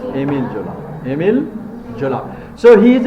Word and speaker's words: Émile Zola: So Émile Zola, what he did, a French novelist, pronunciation is অনেকে এমিলি জোলা বলে, কিন্তু pronunciation Émile Zola.